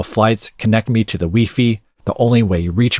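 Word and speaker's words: Wi-Fi: Cleverly, Push pronounces Weii the way many European countries do, including France, where the album was recorded, playing into International Flights.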